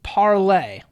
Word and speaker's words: Parler: it what's the name of it you ask parlor or maybe parlay i'm going to call it parlor but i have heard it pronounced both ways so it's gained a ton